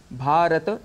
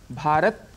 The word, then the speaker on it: भारत: हम बोलते हैं तो अक्सर भारत कह देते हैं भारत कहने से त में जो अ है साउंड वह हट जाता है इसे संस्कृत में दोष